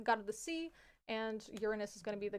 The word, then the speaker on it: Uranus: Uranus is how we pronounce this. Uranus.